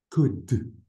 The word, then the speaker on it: could: could. Cold. could. كمان Cold. بنلاحظ انه عندي ال Okay. قبل الحرف الاخير. This L is silent.